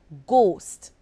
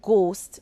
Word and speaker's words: ghost: word consider the word ghost the word ghost is spelled GH OS T gh is at the beginning of the word and it makes the good sound the H is silent now consider the word